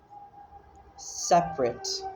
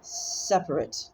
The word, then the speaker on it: separate: But like, according to the Cambridge Dictionary, which has a fuck ton of ads, annoying, things are pronounced differently. Separate. Separate, that's the adjective. Separate is the verb.